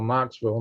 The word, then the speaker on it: Knoxville: since they called Knoxville Knoxville not pronounced a k but it was like snuck it in but Nashville starts looking